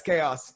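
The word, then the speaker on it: Khaos: he i i kind of knew he was spelled with the k yeah k h a o s chaos and his name is like the ox what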